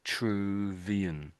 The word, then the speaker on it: Vitruvian: So v ver vu can you see like there sort of true there isn't there in the middle. That's really what you're saying. The truvian.